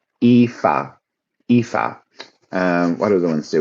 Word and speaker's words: Aoife: So, if you look in the chat, you have one there, Aoife, and this is pronounced Aoife, Aoife, Aoife.